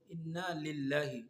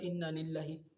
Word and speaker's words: ইন্না লিল্লাহি: আমি আবারও বলছি, ইন্না নিল্লাহি নয়, বরঞ্চ আমরা বলবো ইন্না লিল্লাহি। নিল্লাহির জায়গায় শুদ্ধটা হচ্ছে ইন্না লিল্লাহি।